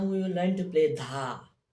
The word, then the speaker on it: dha: When we strike na and ghe at the same time, it pronounces dha.